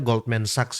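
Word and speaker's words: Goldman Sachs: emm Goldman Sax teman-teman ya bacanya Goldman Saxs ya.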